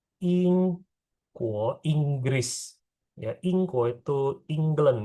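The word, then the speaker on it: 英国: Negara Inggris itu bacanya Ingguo. Ingguo, Inggris.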